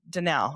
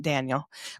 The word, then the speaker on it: Danel: Everybody gets my name wrong too, because they think there's an I in it, and it's Danel. It's not Daniel, but it looks like it could be Daniel.